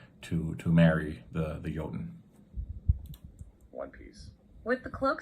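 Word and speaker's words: jötunn: Land of the Giants joten jenim Yen Yen uh again just pronouncing it like a J in English so the AI doesn't can't really get some uh some of that Nuance down yoten and it doesn't take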